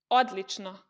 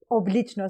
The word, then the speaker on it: odlično: Like Odlično is the normal version, but I say oblično sometimes.